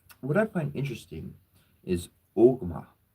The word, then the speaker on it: Ogma: What I find interesting is Ogma. Says Ogma is spelled O, G as in Gary, M as in Mary, A. Ogma. So if we, there's a movie called Dogma.